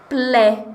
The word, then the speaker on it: plaît: Vocês conhecem essa palavra aí, plaît? Talvez com outro sonzinho, outra pronúncia, que é mais fechadinha, tá mais pra plaît.